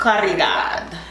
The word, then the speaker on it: Caridad: Twin and Caridad? Yes, I think that's her name. How you pronounce Caridad? Yes, in Spanish you roll your R, so I just Caridad.